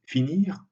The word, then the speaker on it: finir: conjugaison un ir alors dans ce cas le r est d'habitude prononcé finir dormir voir mais si on prend